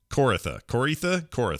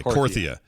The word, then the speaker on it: Korthia: You get the new zone, Corytha. Are we saying it right? Korthia. Okay, Korthia. I've never quite done it right, I don't think.